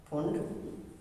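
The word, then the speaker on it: Pfund: पी इसका silent होता है, फुंड सीरीज।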